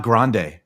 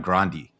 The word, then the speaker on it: Grande: the pictures of him and Ariana it's not grande apparently because they were look close with the family like he was like producing her when she was 15 it's Ariana grandi that's that's how you pronounce it just so